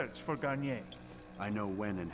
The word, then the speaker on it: Garnier: more recent one i did say it right garnier uh yeah so has got tortures and experiments